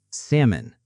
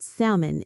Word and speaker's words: salmon: Salmon. Salmon. Grilled salmon is healthy and delicious. The L is silent.